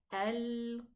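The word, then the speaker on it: القارعة: Pronounce it from the furthermost part of the throat. Al-Qari'ah. Mal-Qari'ah. Okay?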